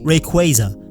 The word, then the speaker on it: Rayquaza: I know it's spelled Rayquaza, but it's without a doubt 100% pronounced Rayquaza, like Ray and Quasar.